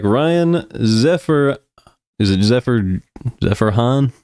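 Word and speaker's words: Zerjahn: bullpen looks like Ryan Zephyr is it Zephyr Zephyr Han it's Z e r j a h n so pronounce that however you would expect zeran Ryan from the Angels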